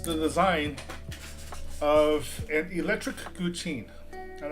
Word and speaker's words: guqin: And you're seeing what I'm doing right now, which is the design of an electric guqin. I'm not even sure that's how you pronounce it.